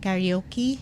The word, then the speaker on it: karaoke: It's karaoke because I don't think the Japanese have the you in the And the among R. the They have vowels. R, right? They have R. Karaoke. They have you. Like you, me, or whatever. But between A and O, it's not AO. It's O. Karaoke.